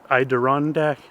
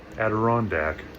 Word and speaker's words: Adirondack: I'm going to go ahead and set my tarp up here in the Idandac. Iderand I don't even know how to pronounce it. Future Justin Aderandac.